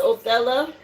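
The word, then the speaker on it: Othala: Again, it is pronounced Oella.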